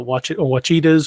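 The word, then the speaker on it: Ouachita: But I would also like to go down to the Kiamichis and the Wachitas. How is it pronounced?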